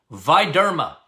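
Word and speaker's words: VitDerma: Viderma. Capital V, I-T, capital D, all one word, capital D, E-R-M-A. Viderma. That's how it's pronounced.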